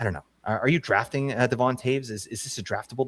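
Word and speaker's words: Devon Toews: Are you drafting Devon Taves? Is is this a draftable defenseman? uh confirmed with the 2024 25 NHL pronunciation guide, it is Devon Taves.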